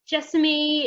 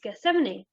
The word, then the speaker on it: Gethsemane: until i got here i don't think i actually was pronouncing the name of the garden right it was jessamy it was giseme but no it's it's geth70 but yeah so what